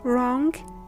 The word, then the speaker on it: wrong: W is silent when it comes at an initial position before H and R.